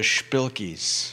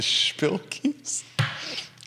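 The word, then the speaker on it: shpilkes: day you could say you're you've got the spilkies do you like that what how do you how do you spell it the spill keys s h p i l k e s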